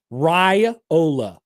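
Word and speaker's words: Raiola: So, how do we pronounce the last name for Nebraska's quarterback properly? Ryola.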